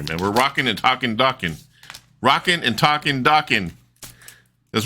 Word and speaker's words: Dokken: here okay we're talking docking here man we're rocking and talking docking rocking and talking docking that's what he said he said his last name is docuso it rhymes with rocking so I'm going to